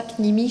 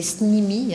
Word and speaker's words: CNIMI: Alors ça se prononce pas CNIMI chez vous, c'est SNIMI, hein, j'ai appris ça ce matin.